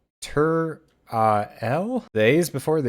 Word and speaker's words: Turael: know how I said earlier that I can't pronounce things in this game I've been calling him tural but it's tur L the a is before the E teril turl